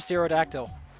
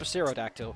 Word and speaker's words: pterodactyl: I like what's called a pterodactyl. Or is it pterodactyl? Because the no, or is it a pterodactyl? Which is silent!